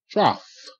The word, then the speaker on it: trough: a TR trough okay here again GH is not silent the GH is making the F sound f- F okay and the OU sound regular OU sound is like and M okay in this case it's making the a sound like S and P a cat's P okay now um a